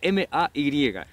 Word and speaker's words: May: el próximo se escribe m a Y esto es súper fácil porque la a que está ahí suena como Ey entonces suena May Y eso es todo perfecto